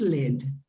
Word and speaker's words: lead: then you say lead it's the same word pronounced in two different words depending on meaning yeah yes yeah so the metal is Led yeah definitely is because